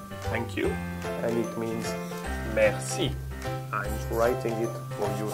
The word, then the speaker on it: merci: So you have to pronounce the word merci in two different parts, mer and si. There is two syllables linked to it. So is it quite easy to do it? Mer and si. Merci. You have to put them together and link them one to two.